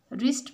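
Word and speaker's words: wrist: He wrapped the रिस्ट watch, रिस्ट में W जो है ये साइलेंट लेटर है।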